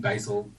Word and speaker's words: Basal Ganglia: Now, then comes your new book, Basal Ganglia. Did I pronounce that right? Yeah, I say basal ganglia. But, you know, I think Basil would fit the American pronunciation very well.